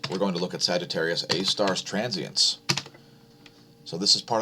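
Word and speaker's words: Sagittarius A*: core of the milky way galaxy known as sagittarius a star it's spelled like this sgr a asterisk sagittarius a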